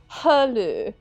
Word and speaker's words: Halu: Alright, so I listened to how this guy pronounces the name, and it's Halu, Halu.